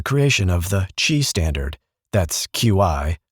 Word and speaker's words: Qi: That's Qi, pronouncedqi, because of course it is.QI defines how devices and chargers talk to each other.